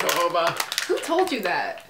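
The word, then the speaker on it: jojoba: know to pronounce thanks is that with the J yeah you don't say it like Jo I that's what I thought it was and then everyone was like no it's hoba and I was just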